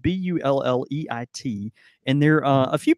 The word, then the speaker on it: Bulleit: it kind of goes like that but it's it's spelled bul le IT and there are a few people think there's a a there's a misconception that you might be you're supposed to pronounce it as like boule or something but that's but that's actually boule